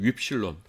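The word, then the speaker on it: upsilon: 윕실론. 그러니까 위 발음 나는 건데 윕실론이라는 게 있거든요.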